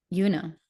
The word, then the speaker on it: Juna: Her name is Juna, something that she had to tell me twice and pronounces with a J that bends into the shape of a Y. Yuna, yeah.